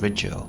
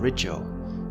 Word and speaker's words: Rigel: First things first, I've always pronounced the blue star RIGEL, but you wouldn't be wrong if you pronounced it RIGEL. In the north of England we tend to use a sharper I sound than in the south or in the States, much like the country of Iran, or Iran as they say in the States.